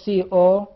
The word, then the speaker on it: comment: If we made a stress at the very beginning of the word or at the first syllable, we call it a noun. Comment. While we say comment is a verb.